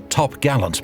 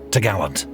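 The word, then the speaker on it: topgallant: trees which secured the top gallant mast pronounced tagaland the cross trees was the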